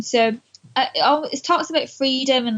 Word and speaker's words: Free-ed: Freed, which is spelled FEREED.